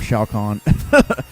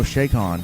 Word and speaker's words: Chakan: shake on right here almost called a shock on Jimmy thought meant Shao Kahn said no shake on as advanced a technical way to pronounce it shake on I always thought was shaken now you look like